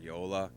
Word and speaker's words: Joola: Your two biggest companies out there probably are Yola, which is spelled Joola, Okay.